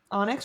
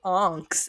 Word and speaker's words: Onyx: Onyx, or I said it wrong again? What is wrong with me? Onyx? You always say onks, and I'm like, what? Onyx? What is onks? Onyx, yes. Wow.